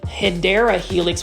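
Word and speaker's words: Hedera helix: This is a Hedra helix. Say it with me. Hedra helix. Okay. I'm not going to be as obnoxious today about the hideera helix, which is the correct way to say English ivy.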